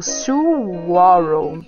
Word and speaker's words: saguaro: O saguaro é pronunciado saguaro.